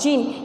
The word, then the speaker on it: djinn: presently there cam along the जिन, यहाँ पे DJINN, तो यहाँ पे जो डी है वो साइलेंट है इसलिए हमने इसको यहाँ पे पढ़ा है जिन, हु वॉज इन चार्ज